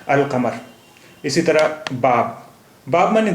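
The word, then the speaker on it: القمر: माने चांद यानी moon Al Qamar the moon यहां पर लाम साइलेंट नहीं है और का का साउंड भी डबल नहीं हुआ सिंगल ही है अल कमर इसी तरह बाब बाब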